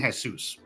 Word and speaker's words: Jesus: So Mikey, they're not saying Jesus, they're saying Jesus. All right. It's spelled the same way.